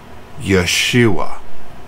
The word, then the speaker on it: Yeshua: and it the the original Hebrew Aramaic language the name Jesus was pronounced Yeshua that's Jesus real name